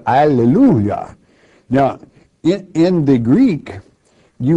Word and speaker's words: alleluia: You say alleluia. Now in the Greek you will find it in Revelation chapter 19 more than one time, only instead of hallelujah it is pronounced in the Greek alleluia.